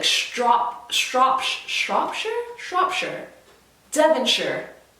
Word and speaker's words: Shropshire: can say like strop shropshire shropshire devonshire gloucestershire so anytime you hear or you see the word with s-h-i-r-e on the end that is sure not shire so if you are